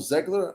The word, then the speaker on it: Zegler: is going to be Rachel zegler I think that's how you say her name yep you got it yeah you got it